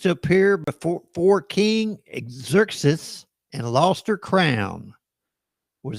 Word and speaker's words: Xerxes: Who refused to appear before King Exus Exerxes and lost her crown? Exeries, that is the way you pronounce it.